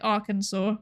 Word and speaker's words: Arkansas: I also don't understand ar I don't understand Kansas and Arkansas, which is spelled like R Kansas, but it is said like Arkansas.